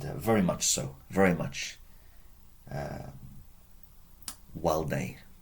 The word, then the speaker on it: valde: Walde, remember the V is pronounced as a W.